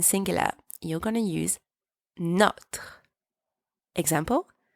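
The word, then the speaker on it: nos: you use no and don't pronounce the S it's silent for example no par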